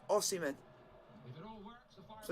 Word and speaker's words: Osimhen: Yeah, he calls him O-Simeon. It's a full Barcelona debut for Aubameyang. When his actual pronunciation is Osimhen.